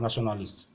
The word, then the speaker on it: nationalist: Now, for the next one, you have nationalist. It is also ending in ISC, so this formula also applies. The stress will be on the first syllable.